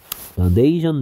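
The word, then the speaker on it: nation: 국가와 관련 있는 국가적인 네이션 내셔널은 a 발음의 변화도 주목하셔야 돼요이 명사일 때는 a a 네이션 됩니다 근데 국가적인이란 뜻일 때 a 발음이 내셔널이 됩니다 네이션 내셔널 그다음 옵션 선택 옵셔널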